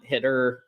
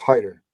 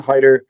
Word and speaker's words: Hiter: Luke W Trey Taylor I'm sorry it's Hider my bad it's sa Hider yes so my bad that's what it is all right so yes so Savon Haider is the correct pronunciation so my bad if